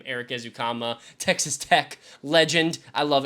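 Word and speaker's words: Ezukanma: out how to say my boy's name Eric ukama Texas Tech Legend I love Eric ukama Great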